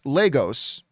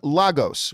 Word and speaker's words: Lagos: o while i'm here lagos is pronounced lagos didn't know that uh rather than lagos which is how i say it hopefully now that i've